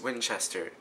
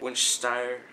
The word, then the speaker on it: Winchester: I'm such a dumbass it's Winchester Winchester Zachary say it with me Winchester winst winster no that's still not right I feel bad that